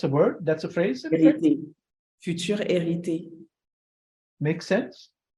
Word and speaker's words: hérité: Just like you don't pronounce the H, it's like the same word, heritage. Héritage. So with the same H, but you just don't pronounce the.